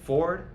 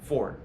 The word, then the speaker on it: forward: be pronounced properly but very commonly with native speakers of American English we just say Ford just like the car brand Ford same thing in context